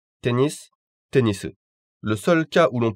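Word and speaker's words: テニス: Tennis, tennisu.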